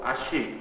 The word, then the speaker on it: haché: Un mot français qui est entré en indonésien est le mot haché, n'est-ce pas? La viande hachée, qui est prononcée avec un ch, une chuintante, ch. Comme la chuintante n'existe pas en indonésien.